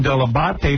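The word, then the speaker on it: Dell'Abate: I don't remember specifically day one, but I know I got the pronunciation deabate from you.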